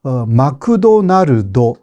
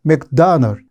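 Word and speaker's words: McDonald's: 마크도날드 이렇게 말합니다. 이게 이해하기가 어렵잖아요. 물론 맥도날드, 이것을 실제로 영어로 하면 조금 더 다르기는 해요. 맥다널 이런 식으로 말하니까 한국말에 문제가 없다라는 이야기는 아니지만 훨씬 원래 발음에 가깝죠.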